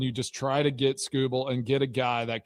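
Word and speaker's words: Skubal: Am I saying it right finally? Scooble. Not Scooball. Scooble.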